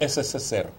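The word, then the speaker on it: СССР: SSSR. Porque P latino é R russo, do alfabeto cirílico.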